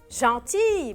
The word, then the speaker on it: gentil: Elle est gentille. Bravo. Je vais écrire gentille. Gentille. ما تنسوا gentille. Au féminin s'écrit avec 2 L, E. Au masculin, il se termine par L. L ما بلفظها بقول gentil.